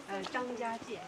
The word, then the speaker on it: Zhangjiajie: Zhangjiajie.